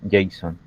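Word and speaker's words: JSON: o N, que es que se pronuncia Jason.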